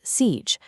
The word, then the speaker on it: CIGE: Enter CIG, pronounced CIG, the carrier interconnect governance engine.